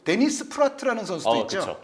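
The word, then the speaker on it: Praet: 아 발음이고 요즘 그 데니스 프라트라는 선수도 있죠. 그쵸. 네. 이 선수도 사실은 프라에트가 아닌 거죠. 프라트.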